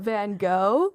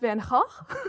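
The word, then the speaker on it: Van Gogh: Um yes, I even have like a shirt that's like a little meme about Van Go. Yeah, but apparently his name is pronounced Van Hawk.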